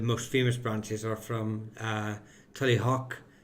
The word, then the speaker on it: Tullyhogue: But the most famous branches are from Tullyhock, I believe is the correct pronunciation of Tully, what is written as Tullyhogue, and that's where they crowned the O'Neills of Tyrone.